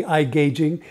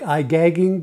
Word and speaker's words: iGaging: I think it's supposed to be iGaging. It looks more like iGagging, but I'm sure that's not how they want it pronounced.